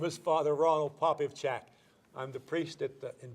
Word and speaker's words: Popivchak: you tell them your full name I can't pronounce it right my name is father Ronald poppy of chat I'm the priest at in Bridgeport Saints Peter